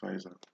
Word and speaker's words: Pfizer: I presume it's pronounced Pfizer.